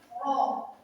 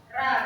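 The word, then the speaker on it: ر: itu terkumpul semuanya ya, seperti ini roh ya, roh. Coba kalian perhatikan roh. Ya, jadi jangan ra, bukan ra.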